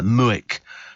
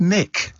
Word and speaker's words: Muick: But I'm sure it can't be pronounced Muick. I don't know what it means. M-U-I-C-K. And it's very odd, actually. But they sort of they seem to be carrying a bit of weight. These sort of they're sort of dogs that do carry a bit of weight. And so it's pronounced Mick.